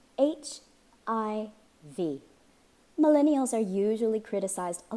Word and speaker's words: HIV: HIV. This is an initialism. Say each letter separately. HIV.